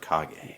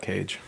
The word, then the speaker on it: Kage: video game book club we had legend of cog a for the NES and this was a listener request dan from the Dan and Cody podcast it's yeah legend of cog a legend of cog a spelled KAG yeah yeah and I think I